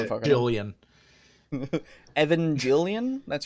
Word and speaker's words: Evangelion: most of the pronunciation, yeah. I don't even fucking know how to say it. Evangelion. Evangelion, that's right.